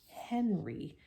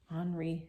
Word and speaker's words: Henri: when we read it we sometimes read it as Henry because that's how we would say it in English but we to pronounce